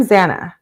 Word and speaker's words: Xana: I'm Zana, pronounced Xanax without the X is how the the petite brunette introduced herself to the house on the first day, and everyone laughed.